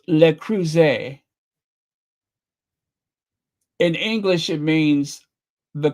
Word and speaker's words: Le Creuset: It is pronounced Le Creuset.